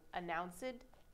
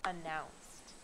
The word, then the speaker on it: announced: Remember, the sound is never ed. So announced, no. It is announced.